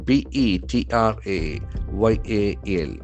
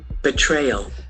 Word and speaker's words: betrayal: B E T R A Y A L. It's a very important noun. Betrayal. Betrayal. Betrayal. Betrayal. The accent falls on the second syllable.